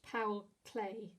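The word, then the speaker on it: Paul Klee: red cloud by now paul clee i think is supposed to be pronounced powell clay um and yeah just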